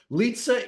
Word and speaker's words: Lizza: over in her grave so litaa is the proper way of pronouncing your last name or am I wrong yes it is that's